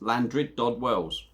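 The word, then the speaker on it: Llandrindod Wells: Apparently it's pronounced Llandryd Dod Wells.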